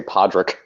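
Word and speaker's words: Padraigh: because I'm not p-a-d-r-e-i-g-h for a second there I thought you were going to say Podrick actually that's exactly what it is it's the correct spelling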